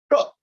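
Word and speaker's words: 떡: sweet glutinous rice but they call it cup which to me sounds like duck now i finally learned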